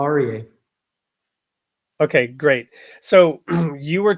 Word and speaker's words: Aryeh: share it with us you said it perfectly Paul arier okay great so you